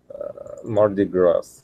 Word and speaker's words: Mardi Gras: it you're welcome uh mardi gras yes s is not pronounced because it is of the french origin it is the word